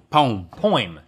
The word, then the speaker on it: poem: a poem a poem poem poem poem that's two syllables no point poem like